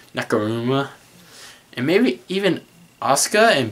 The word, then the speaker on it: Nakamura: like Samoa Joe and Finn Balor and maybe Sakura, I keep mispronouncing his name, Nakamura, and maybe even Asuka and Bayley.